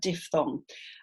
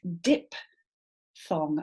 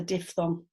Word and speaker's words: diphthong: A lot of the time I hear it pronounced diphthong, and I get it. I see why, because DIP, they're all adjacent letters, but actually the di bit is over here and the thong bit is over there.